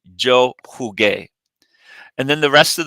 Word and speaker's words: jugué: The only way we can maintain that is by inserting a U, which becomes silent in front of the A. And when G is followed by U, it gives the hard G sound. So it helps us maintain the original sound.